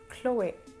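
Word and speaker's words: Chloé: an a sound so the e at the end of this word isn't really silent you basically have to pronounce it so you would pronounce it chloe chloe now for the next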